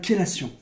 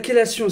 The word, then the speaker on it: chélation: C'est parce que ça vient du grec. Et en grec, en fait, ça se dit chélé. Chélé, c'est difficile à prononcer pour les Français, et du coup, on a préféré dire ké.